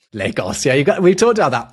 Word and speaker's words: Lagos: So would that make it Lagos instead, if it was Portuguese? Entirely possibly. We're pronouncing it like it's Spanish.